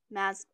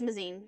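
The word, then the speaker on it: Mazeen: by impaling him, and then she kills Lord Mazakine. No, I'm pronouncing it wrong. I know I am. I don't remember it because, like, I didn't. Mazine? I think it is Mazine.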